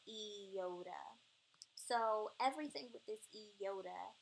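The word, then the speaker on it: ἰῶτα: here it's called the Yoda but many people say iota um but it's actually pronounced Yoda so everything that this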